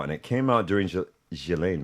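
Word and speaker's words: Ghislaine: it came out during Gilain Maxwell I believe is the way the proper way to say Galileain Maxwell's case which of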